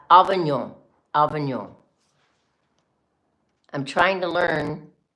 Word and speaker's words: Avignon: Did you see that I did not say Avignon? I said Avignon.